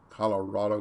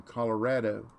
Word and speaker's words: Colorado: that they'd moved from colorado and brett said don't you mean colorado and they said no people from there it's colorado not colorado people every real say it wrong colorado right last name